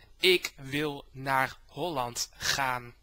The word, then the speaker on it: Ik wil naar Holland gaan: First of all, the title of your video is pronounced Ik wil naar Holland gaan.